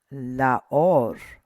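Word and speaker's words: לָאוֹר: Laor. Laor. And emphasis is right here. So it's laor.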